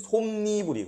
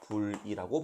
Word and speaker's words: 솜이불: 예를 들면 솜니불이 그래요. 솜이불인데 얘가 실제로 발음될 때는 니은 첨가가 돼요. 이렇게 합성어니까 합성어고 뒤에 이가 왔죠? 그래서 솜니불이라고 발음할 수 있어요.